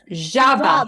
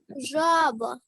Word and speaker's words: жаба: А як ми Жаба. скажемо? Жаба, жаба, жаба. One more time. Жаба. Жабеня. Ні, Жаба. лягушка. Жаба. Jaba. Жаба. Jaba. Ні, лягушка. Це Жаба. чесно. Жаба.